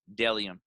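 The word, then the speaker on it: Bdellium: have my friend isaac thomas with his company dellium that's b d e l l iom pronounced dellium bellium is a men's and women's minimalistic brand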